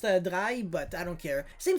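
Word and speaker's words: Drei: rather just search the dry and then you know make a novenfini by the way i know it's pronounced drai but i don't care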